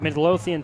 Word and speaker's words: Midlothian: he had 3 300 yards passing just about during his senior year of high school he's a native of midlothian texas if i pronounced that right you did nice went to